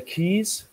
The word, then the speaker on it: keys: It's walking on the keys, long E.